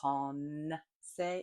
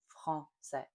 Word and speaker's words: français: One mistake that people make a lot is they see that this is always written in French with either an N or an M, and they want to pronounce that consonant where we don't at all. We don't say français, it's français, français.